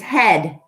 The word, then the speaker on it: head: is actually silent here the a is silent even though it's two vowels which makes this what